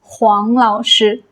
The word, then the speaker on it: 黄老师: This is Wáng Lǎoshī, but this is Huáng Lǎoshī.